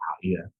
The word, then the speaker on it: Gaia: And when you align to this, you understand that Ha'ia or Gaia, as mostly the Americans say Gaia, but it is pronounced Ha'ia, that the sacred breath is returned to the light.